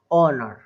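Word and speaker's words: honour: बोल रहा हूँ कि यदि किसी भी वोवल से पहले एच आया है तब एच जो है वो क्या हो जाएगा, साइलेंट हो जाएगा, उसको नहीं पढ़ते हैं फिर, केवल यहाँ से पढ़ेंगे इसको, ऑनर, ऑनर सम्मान, है ना, तो इट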